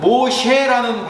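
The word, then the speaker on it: משה: 모세는 모셰라는 발음이 되어 있는데, 이 모셰가 끌어내가 건져내다라는 뜻이에요.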